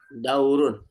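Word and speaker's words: دَوْرٌ: Daurun. Oh, Daurun. Daurun. Iya. Asli aslinya dia seperti biasa ya, dia ee marfu atau domah gitu ya. Jadi dibacanya daurun.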